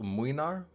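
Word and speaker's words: Mlynar: Then there's Gregory with Minar. And yes, I know it's pronounced Muinar, but I do not care.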